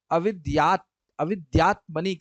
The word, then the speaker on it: अविद्यात्मनि: Avidyatmani krite. It is good pronunciation.